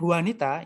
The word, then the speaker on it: Juanita: terjemahkan ya map and wanita ini bacanya ha bukan J bukan Juanita tapi hal ini orang Meksiko berarti biasa kalau orang yang